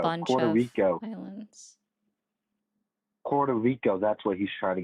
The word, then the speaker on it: Puerto Rico: No, it's Puerto Rico, man.